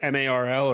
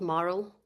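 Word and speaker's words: MARL: this of the um do you do you pronounce it M A R L or do you call it moral? Uh, I call it moral.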